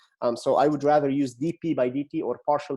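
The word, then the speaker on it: dP/dt: okay is equal to so I want you to pronounce it correctly rather than Delta P you should be specific and say DP by DT now Delta P is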